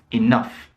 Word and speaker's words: enough: these four letters enough enough so the ou g h here is off off enough and of